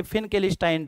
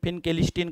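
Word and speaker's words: Finkelstein: इथे दोन रिएक्शन येतात एक येते फिनकेस्टाईन रिएक्शन काही लोक त्याचा प्रोनाउन्सिएशन फिनकेस्टीन करतात माझे लॉजिकल प्रश्न असतात आईन्स्टाईनच्या स्पेलिंग मध्ये सुद्धा एस टी आय एन येतं त्याचा प्रोनाऊन्सिएशन आपण आईन्स्टाईन करतो काय करतो आईन्स्टाईन करतो तिथे आपण आईन्सीन म्हणलेलं कधी ऐकलेलं नाहीये मग ह्याचं प्रोनाऊन्सिएशन करताना पिंक एलिस्टीन कसं होतं मला माहित नाही मला असं वाटतं मग हे सुद्धा काय व्हायला पाहिजे इंग्लिश स्टाईनच व्हायला पाहिजे असं मला वाटतं प्रोनाउन्सिएशन काय फरक पडत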